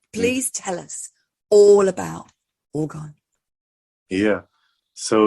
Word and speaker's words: orgone: And Richard, tell our audience, what is organ? Or how do you say it? It's orgone, or some term it as orgonite.